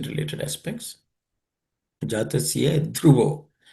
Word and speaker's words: ध्रुवो: Jatasya dhruvo. This dhruvo, the dha is the fourth letter in the th class of consonants. It has to be aspirated. Dhruvo.